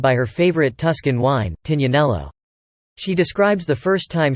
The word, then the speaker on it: Tignanello: Plus, it's pronounced Tignanello in Italian, not Tignanello.